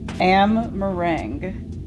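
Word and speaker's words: Amh Araeng: language of his people am meringue I pronounced it like that as a joke thinking it was not the right way to say it but it actually is the lights unrelenting onslaught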